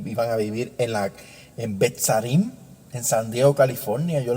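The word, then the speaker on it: Beth Sarim: iban a resucitar y iban a vivir en Betzarim, en San Diego, California.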